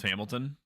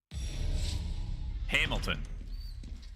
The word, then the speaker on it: Hamilton: Before it goes any further, it's pronounced Hamilton. Hamilton. Okay, gotcha.